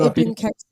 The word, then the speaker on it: Ibn Cason: So, you know, as we do, without further ado, I'm introducing, introducing, IBN CASON. What up? Hopefully I didn't butcher your name, because, you know, is it IBN CASON? You said it right.